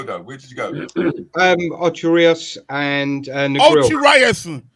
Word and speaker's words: Ocho Rios: Ocho Rios and Negril. Ocho Rios. Say it properly. Ocho Rios. Ocho Rios. I beg your pardon. No, Ocho. It's not Rios. It's Ocho Rios.